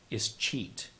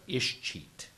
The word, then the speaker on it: escheat: If the childless bachelor does not have a will, his property is at risk for escheat. Here often also said escheat.